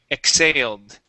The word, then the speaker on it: exhaled: stress is right here on this Al okay exhaled exhaled exhale very good okay uh this word here is pronounced nostrils okay so the i l okay